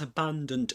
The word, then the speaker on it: abandoned: Abandoned beginning with a schwa sound. You say abandoned.